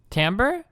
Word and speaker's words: timbre: songs has dropped drastically but it's Tom bruh Tambor is that is that how bread bong is pronounce this word Tom bruh oh stop the researchers found was over the past few decades Tom in songs has dropped drastically Tom bruh this is pronounced this is Tambor right Tambor okay sorry is